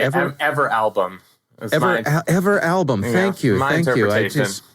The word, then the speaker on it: Everalbum: I would say Everalbum.